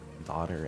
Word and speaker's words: daughter: and that reminded me lots of words where the gh is silent which is uh daughter and wow apparently used